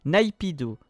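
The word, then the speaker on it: Naypyidaw: salut Francy pour l'information le nom de la capitale de la Birmanie se prononce naipido merci d'avoir lu ce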